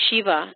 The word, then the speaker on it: Shiva: A lot of people see this word and mispronounce it as Siva. It's not Siva, it's Shiva.